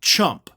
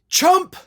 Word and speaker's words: Trump: to pronounce it correctly, don't make it sound like another word that's actually an insult. Chump. You know, maybe say like Trumpup or something like that if you can't pronounce Trump. But if you're going to make it sound like chump, then you probably need